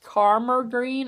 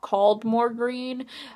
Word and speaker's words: Caldmore Green: One of the children, in particular, 7-year-old Nicholas, was convinced that the man pronounced Caldmore Green as Carmer Green and not Caldmore Green, as any local would.